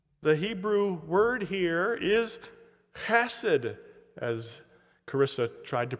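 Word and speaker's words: חסד: The Hebrew word here is chesed, as Carissa tried to pronounce with the children.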